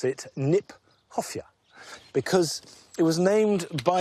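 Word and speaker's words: Kniphofia: I like the fact that nephosia, which is an awkward word, not an easy word to say. In fact, is mispronounced. We should pronounce it Nip Hofia because it was named by Johan Heronomous Nip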